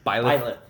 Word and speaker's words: Byleth: Byleth. Byleth.